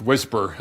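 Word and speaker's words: WSPR: the time anyway so the weak signal propagation reporter mode pronounced whisper it's a low-power one-way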